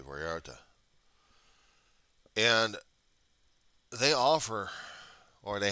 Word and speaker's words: Vallarta: Actually, places similar to Albertsons called Vararta or Valarda. You want to do that kind of pronunciation, but it's usually Vallarta.